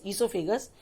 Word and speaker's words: oesophagus: ओ silent है इसमें, OESOPHAGUS, ईसोफेगस.